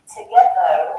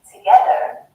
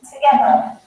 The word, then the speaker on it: together: So, where words end with ER, for example, we don't really pronounce that R again. It has more of an up sound, as in umbrella. So, rather than saying together and pronouncing that R, or like in American English saying together, in British English we say together.